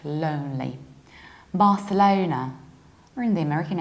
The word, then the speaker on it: Barcelona: to see is and even though in Spanish they say but a solana we say in English Barcelona and we need to round low not like lonely Barcelona we're in the American